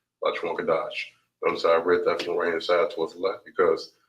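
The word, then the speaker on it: לשון הקודש: All right, this here is pronounced as La Shawan, and then the second word is pronounced as Kodash, La Shawan Kodash.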